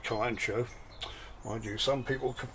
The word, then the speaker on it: Kalanchoe: so who knows that some people pronounce it um Callum Cowie uh I've been calling it kalancho I do some people